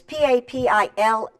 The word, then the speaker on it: papillon: papillon now see it's it's p-a-p-i-l-l-o-n but it's pronounced papillon look at that and